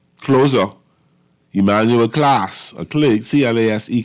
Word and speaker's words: Clase: And I guess Cleveland has its closer, Emmanuel Clase, C-L-A-S-E Clase, I pronounce.